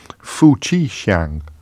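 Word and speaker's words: 夫妻相: It turns out it's pronounced Fu Qi Xiang.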